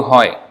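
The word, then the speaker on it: হয়: So, She Guru Hoy. Again, Haya, Haya. The A is not pronounced at the end. And then Hai becomes Hoy.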